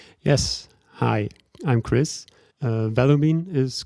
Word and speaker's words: Vellumine: behind the Chris, first of all, did I pronounce it correctly? And can you quickly introduce yourself? Yes. Hi, I'm Chris. Uh, Valumin is correct.